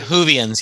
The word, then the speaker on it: Whovians: And I hope a lot of our DJ Sessions fans, out there are Whovians. Do I say that right? Did I say it right? Yeah, Whovians, yes. Whovians, thank you.